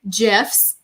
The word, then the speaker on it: GIF: And we're going to make some Bitmoji GIFs. And yes, I'm a soft G kind of gal.